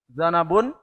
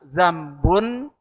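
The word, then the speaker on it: ذَنَبٌ: Zanabun. Nah, kalau bacanya salah kan maknanya sudah salah, walaupun tulisannya sama ya. Zal, nun, ba. Kalau bacanya zambun, nah, artinya dosa. Kalau zanabun, ekor.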